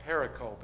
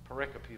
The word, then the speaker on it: pericope: these pericopes pericopes are it's spelled pericope it looks like pericle but it's pericope that's the text and we always called it pericope and he laughed at us because it's pericope so he laughed at